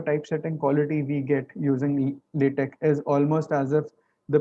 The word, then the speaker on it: LaTeX: And it is generally pronounced as LaTeX or LaTeX, right?